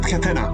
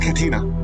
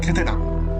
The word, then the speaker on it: Catena: So you pronounce it Catena, not Katina. Catena.